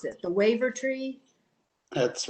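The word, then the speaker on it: Wavertree: Street Seaport, I want to be sure I pronounce it, the Waiver Tree.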